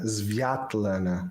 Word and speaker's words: Sviatlana: They spell her name in what Yeah. looks like unpronounceable, like a slew of vowels that a person unfamiliar with that language would not know how to say, just to not make it sound Svetlana.